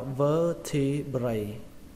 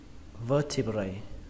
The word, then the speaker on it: vertebrae: Số nhiều của nó thì các bạn đọc là vertebrae. Nó khác một cái là cái âm cuối cùng nó thành âm A các bạn nhé, vertebrae, vertebrae, vertebrae.